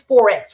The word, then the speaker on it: Forex: what are we saying we are saying Forex like foreign exchange it is the exchange